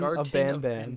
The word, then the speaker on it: Garten of Banban: It's spelled Garten is Do you, spelled Garten. Garten. Garten of Garten of Banban.